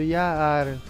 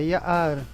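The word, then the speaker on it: יער: Note que quando tem o Ain, ele sofre um pequeno corte da letra anterior. Você não pronuncia emendado Ya'ar, é Ya'ar. Um corte, ele é bem sutil na pronúncia.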